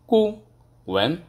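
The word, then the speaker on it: 顾问: দেন consultant, কনসালটেন্টকে মূলত বলে কুয়েন, কু ওয়েন, দুইটি হচ্ছে, এটা হচ্ছে যেমন ফোরটন, এটাও ফোরটন, তাহলে প্রথম অটোমেটিকলি সেকেন্ড টন হয়ে যাবে কু ওয়েন, কু ওয়েন।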